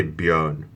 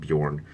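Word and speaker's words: Björn: beyond is my name you say beyond how we pronounce it not Bjorn but I go Bjorn because it's easier for everyone else it means the bear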